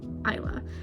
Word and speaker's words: Isla: Okay, I was pronouncing it Isla at first. Like, you know how you spell Isle? I-S-L-E? Isla's name is I-S-L-A, so in my head it's Isla, and I keep accidentally saying that, but she did specifically mention when Grimm came in that he pronounced all the letters with like this sound, so I'm like, okay, so it's Isla.